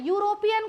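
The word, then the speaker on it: European: यूरोपियन कल मैंने बताया था एक यूरोपियन।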